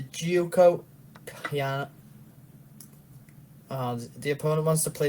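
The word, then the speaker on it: Giuoco Piano: It's going to be an Italian sorry, I'm going to say it properly this time. A Gioco Pianissimo. Yeah, it's the Gioco Piano.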